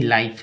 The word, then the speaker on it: life: एफ से फ, ई का उच्चारण नहीं होगा, लाइफ।